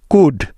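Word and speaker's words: could: বা উজ্জ্ব আছে দেখো এল লেটারটি সাইলেন্ট বা উজ্জ্ব থাকার নিয়ম এল এর পরে ডি এফ কে এম এই চারটি লেটারের যেকোনো একটি থাকলে ওই এল টা সাইলেন্ট হয়ে যাবে যেমন ডি এর আগে এল সাইলেন্টের উদাহরণ যেমন কুড সি ও ইউ এল ডি কুড সুড এস এইচ ও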